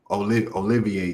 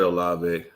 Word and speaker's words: Olave: Olivier touchdown. I got me saying his name wrong, and I know how to say it. I Olave.